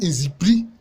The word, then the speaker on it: Nzikpli: C'est insiepli qui mieux ou prononcé avec élégance devient inzipri en baoulé.